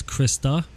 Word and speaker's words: Krista: And real quick though, it's Krista, and she would get upset because people get her name wrong all the time.